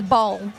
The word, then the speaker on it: Bowl: Just a heads up, I've been told how to pronounce Dave's last name properly, so we don't stuff it up. It's Bowl. Bowl, okay. Bowl. So all those pronunciations we've been told in the past by the team, it's all been wrong.